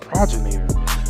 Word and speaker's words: progenitor: That's how you say it, Progenitor.